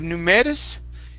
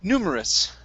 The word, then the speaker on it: numerous: the word numerous okay instead of numerus okay the dress is on new at the very beginning numerous numerous okay very good